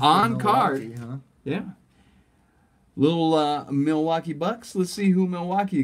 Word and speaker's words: Milwaukee: It's actually pronounced Milwaukee.